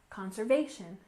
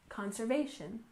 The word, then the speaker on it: conservation: we have conservation efforts with a stress on the third syllable conservation conservation and efforts we stress